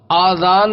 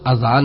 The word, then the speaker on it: اذان: اللہ کا رسول ہوں۔ آذان ہے یا اذان؟ بعض لوگ آذان کہتے ہیں، یہ غلط تلفظ ہے۔ آذان جمع ہے اذن کی اور اذن کے معنی ہے کان۔ درست تلفظ اذان ہے۔ اذان کے لغوی معنی